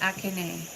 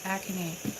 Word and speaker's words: Akane: By the way, the pronunciation of my name is Akane.